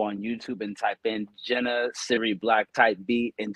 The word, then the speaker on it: JNA: But also have our guest in studio, Jenna. It's spelled JNA.